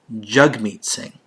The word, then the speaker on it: Jagmeet Singh: he did say that he his name is pronounced jagmeet singh the same jug meets singh that pronounces the